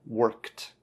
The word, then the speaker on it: worked: Make sure that there's no worked. No, worked. Kt, kt. Right, that K-E-D, worked.